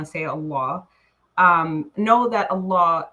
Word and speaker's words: Allah: Teach us and then So A L O. Uhhuh. O A L O A. So, and then say l a h. Allah. Allah. Allah. Yeah. Pronounce pronounce both L's.